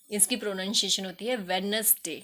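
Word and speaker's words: Wednesday: यहां पर डी के साथ नहीं आती है वेडनेसडे को 161 कि इस तरीके से कुछ और वर्ष है जहां पर स्पेलिंग तो लिखी जाती है अल्फाबेट तो लिखा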